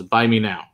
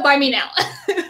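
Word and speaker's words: Bunnahabhain: But yeah, or as Eric says, it's his point A is pronounced as buy me now. Yeah, the Moynia, buy me now.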